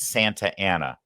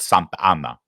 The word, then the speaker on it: Santa Ana: Uh and it's Santa Anna, not Santa Anna.